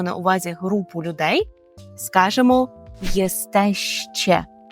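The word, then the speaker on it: jesteście: група людей маємо на увазі групу людей скажемо єстеще єстеще така цікава привимові форма тому потренуйтеся вголос кілька разів повторіть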